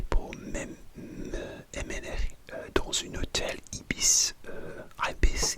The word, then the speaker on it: Ibis: Et finalement, une bus est venu me chercher pour m'emmener dans un hôtel Ibis, Ibis, j'ai pas sûr la prononciation, je dis que Ibis au Royaume-Uni.